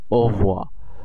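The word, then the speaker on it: au revoir: একই সাথে উচ্চারণ করে, একই সাথে উচ্চারণ করলে এটির উচ্চারণ হয় ও ভোয়া ও ও ভোয়া। মানে আপনি যদি খুবই মনোযোগ সহকারে তাদের উচ্চারণগুলো দেখেন ও হো ভোয়া, এটিকে এই একটা আরো আরো মানে আরো সফট হয়ে যায় উচ্চারণের ক্ষেত্রে, একটি বলতে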